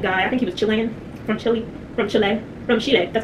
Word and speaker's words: Chile: the other well-traveled guy, I think he was Chilean, from Chile, that's how they pronounce it, right, that's another thing we were